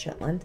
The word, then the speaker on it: Shetland: However, Orkney and Shetland, which if you're local to there, it's pronounced Shetland.